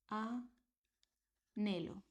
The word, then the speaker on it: anhelo: So this is hola, and this is anhelo. Like this is not here.